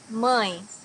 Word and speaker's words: mãe: Mãe, mother. Here you also have a nasal sound, mãe.